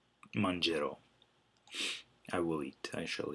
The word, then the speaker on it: mangerò: Remember to drop the I to keep that soft G. You don't want mangerò. You want mangerò.